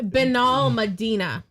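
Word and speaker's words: Benalmádena: all assess all right it's b n it's benol Medina it's b e n a l m a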